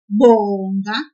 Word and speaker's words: bonga: Always pull the syllable before the last one. For example, in the verb bonga, to give thanks, we will pull the syllable bo a little bit, like this. Bonga.